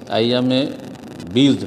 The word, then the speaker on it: আইয়ামে বিদ: আইয়ামে বিদ এটা রেখেছি, আইয়ামে বিদ কথাটি বিদ আপনি বীর্জ লিখেছেন, এই শুদ্ধ উচ্চারণগুলি আপনারা ঠিক করে নেবেন আর না হলে বাংলায় বলবেন আইয়ামে বিদ।